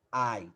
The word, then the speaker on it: I: sujeito for a palavra ai a pronúncia que é ai tá pessoal ai significa